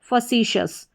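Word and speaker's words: facetious: यहाँ पर FACE देखकर आप फेस नहीं पढ़ना है, इसको फसी याद रखना है, FACEC फसी, और TIOUS को शस, फसीशस, फसीशस।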